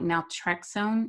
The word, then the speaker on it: naltrexone: So whenever they do use medications for breaking this cycle, how does the drug say, like naltrexone? Is it naltrexone? How do you pronounce it?